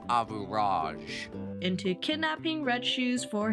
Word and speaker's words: Average: tricks the selfish Prince Average It's pronounced Avuraj.